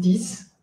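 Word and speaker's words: dix: Es una regla de fonética que dice que el número 6 y el número 10 solitos se dicen sis dis, pero si están acompañados se dicen si di. Por eso yo no pronuncio, yo pronuncio sis, pero yo digo si persona.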